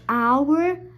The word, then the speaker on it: hour: So an is also used before words that starts with a silent H. For example, an honest, an hour, an honor, an honorable, etc. So in these four words, the H is silent in these four beginning of those words. So we are using an.